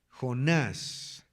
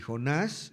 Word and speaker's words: Jonás: Jonás. Y Jonás lleva acento en la A, acuérdense, Jonás.